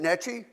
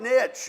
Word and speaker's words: niche: pronounced that is it nii nii Nei I'm still not getting it oh like Niche okay Niche okay so I don't pronounce that e on the end you know I've had